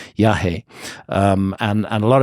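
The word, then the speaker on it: yajé: um is called yah which is spelled y a j e with an accent over the e yahi um and and a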